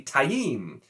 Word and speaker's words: Taim: and not time but phonetically it is supposed to apparently be taiyem for t-a-i-m because robert jordan's gotta